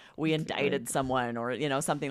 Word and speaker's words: indict: It's spelled I N D I C T, but that C is silent and it's almost as if there's an E at the end.